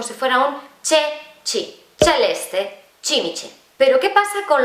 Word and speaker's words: celeste: Tú, por ejemplo, esta palabra la leerías celeste. En italiano no, en italiano es celeste.